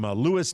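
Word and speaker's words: Lewes: His name is Kevin Brownlee from Lewis, Delaware. That's how you pronounce that down near Ocean Yes. City, right? Lewis, Delaware.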